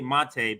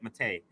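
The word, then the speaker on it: Maté: I know I always say Mate, but when he was on the show, he said Mate. So I'm going to say it like that now.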